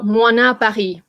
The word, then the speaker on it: Moynat: Okay, so MOYNAT Paris. It's pronounced, by the way, moi, as in like, you know, like moi, me, na, and the T is silent.